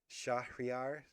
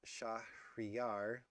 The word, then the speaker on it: Shahryár: Shahryár, not Shahryár, Persian, city friend.